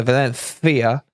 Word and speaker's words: Valencia: So Valencia, you gotta say it with a lisp, with a lisp.